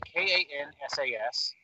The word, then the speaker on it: Kansas: So the state, K-A-N-S-A-S, like the band, is pronounced how? Kansas.